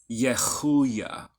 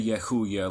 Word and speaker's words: Yehuiah: So, if you can't really pronounce it that way, you can say Yehuiah like an H. But technically it's the letter Chet, Yehuiah. It's kind of closer to a Ch, Yehuiah, or Yehuiah.